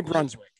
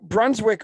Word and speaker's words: Brunswijk: His name is Ronnie Brunswick. He was just over at the house yesterday. I'm not surprised. Ronnie Brunswick which is spelled Brunswijk, owns a team in Suriname.